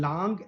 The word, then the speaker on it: langue: And langue, what is langue? We have to pronounce it langue, not lang.